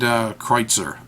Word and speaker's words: Kreuzer: converter style pen and kreitzer I believe that's how it's supposed to be pronounced K R u e ze R so I'm gonna hold